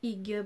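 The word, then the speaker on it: Hygge: Ensuite, nous avons le livre du Hig, prononcé Ouga, me vivre la méthode danoise, le coup de cœur de My Little Box.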